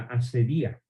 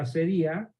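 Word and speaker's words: acedía: En el diccionario van a encontrar otra palabra muy parecida, pero que tiene el acento en la I, la asedía.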